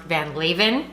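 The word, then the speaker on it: Van Leeuwen: even more obsessed and my Alexa tells me that it is pronounced van leavin so this ice cream brand van leavin it's really hard to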